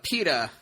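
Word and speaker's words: Peeta: we see uh uh peta peta whatever his name is PED pet is it Peta is that his name is that how you pronounce it yeah like the bread yeah oh and he's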